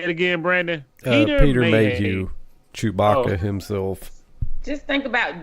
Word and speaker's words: Mayhew: Mayhew.